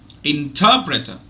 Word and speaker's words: interpreter: okay interpreter interpreter interpreter so if you notice the second syllable is stressed and there are no other stressed syllables in the uh in the in the word so the other three syllables one three and four are are weak now let me share